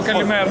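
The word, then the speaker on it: καλημέρα: I see, and we see pictures of, I'm going to pronounce this wrong, but Kalimera? The campaign up there, is that... Oh, Kalimera.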